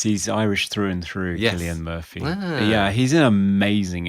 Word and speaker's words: Cillian: Insidious and of course Killian Murphy is that how you pronounce his name it is I never knew that I've always pronounced it as sillian Murphy Oh no no he's Killian yeah they call him kill